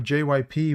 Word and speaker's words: JYP: I really thought that Jip or JYP was actually belonged to Psy. You pronounce it like the letters, by the way, so it's has a history of mistreating.